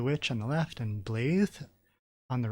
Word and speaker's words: Blaidd: on the left and blae on the right it's spelled like Blade with two D's but when she says it it sounds more like a th sound so I'm going to say blae um so she's kind